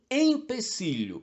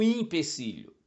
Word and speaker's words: empecilho: uma ação ser realizada é um empecilho não um impecilho como parece à primeira vista e como a lógica sugere O problema é que